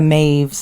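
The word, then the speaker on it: Maebh: Well, that's like all the like so like the maves and the sives of the world cuz the BH gives it that like the sound.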